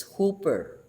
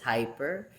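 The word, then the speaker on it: ὑπέρ: the transliteration of the chic word and the pronunciation is hooper hooper if you want if you want to go ahead and and say it pronounce it as it is hyper but I'm going to stick with hooper kjv4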